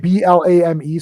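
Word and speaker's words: BLAME!: It's BLAME, so it looks like blame, but I think it's pronounced Blam.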